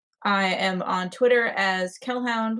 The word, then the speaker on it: Kellhound: I am on Twitter as Kellhound, which is spelled like Hellhound, but with a K.